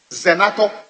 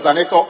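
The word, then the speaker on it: Zanetor: Ezaneto Ajman Rawlings, calling it Zenato, and the record to prove. And I'm saying that I have heard in the past, the respected deputy leader also said Zenato instead of Zaneto.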